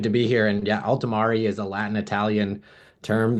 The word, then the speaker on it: Ultimarii: altimari and I'm learning it's a Latin pronunciation that I'm getting just right altimari it's an AI powerered